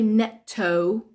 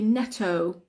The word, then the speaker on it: Netto: sorry next one is Neto Neto okay so Neto is Double T yeah Neto is Double T but we don't say Netto we say Neto Neto Neto Neto is